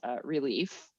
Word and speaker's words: Releaf: We discussed my favorite app for sort of trying to figure out what works best, which is Relief. It's spelled RELEAF.